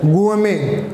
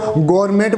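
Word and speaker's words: gourmet: Next is इसका pronunciation होता है गुएमे, कहीं इसको गवर्नमेंट बोलेंगे, इज नॉट गवर्नमेंट इज द गुएमे।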